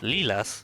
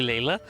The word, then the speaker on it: Layla: Lilas? He got into some trouble during a clairvoyance session. Pretty much Layla. It's actually Layla.